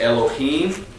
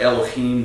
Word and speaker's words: Elohim: that way uh but the H uh in the Hebrew language is always pronounced it's got a hard guttural sound so it's not Elohim